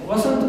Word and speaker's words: वसंत: तो आप लोगों ने ध्यान दिया होगा कि अब हमें उच्चारण कैसा करना है? वसंत का करना है, न कि बसंत का।